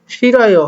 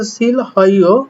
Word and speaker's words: 싫어요: শিরয়ও হওয়ার কথা ছিল সিল হইও, কিন্তু হলো শিরয়ও। 달았어. থারাস্য অর্থাৎ এখানে হওয়ার কথা ছিল থাল হাস্য, হলো থারাস্য। তো আশা করি বুঝতে পারছেন যে এখানে হিউতের কোনো উচ্চারণ হবে না, হিউটা সাইলেন্ট হয়ে যাবে, এই আর কি।